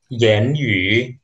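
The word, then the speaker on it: 言语: Selanjutnya, aksara ini di bahasa Mandarin dibaca yan yu.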